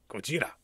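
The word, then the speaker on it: ゴジラ: out but well done Gojira that's the Japanese pronunciation of Godzilla I think just make sure I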